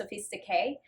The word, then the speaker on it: Sophistique: It's spelled Sophistiquue, but it's pronounced Sophistique.